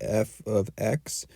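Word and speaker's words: f(x): like this f of x that's how we pronounce it f of x and often times they'll write a number in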